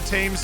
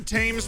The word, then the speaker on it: Thames: pronounce english river moniker everybody in the united states calls it the thames river so i i'm just gonna go with that i know ben says tim's but ben says a